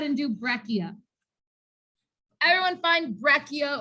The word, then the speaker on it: breccia: do breccia everyone find breccia or breca depending on how you want to pronounce it right there at the